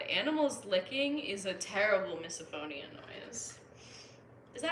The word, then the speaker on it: misophonia: not what I was looking for though okay pronunciation come on misophonia I was right misophonia my fiance hates when cats lick themselves yeah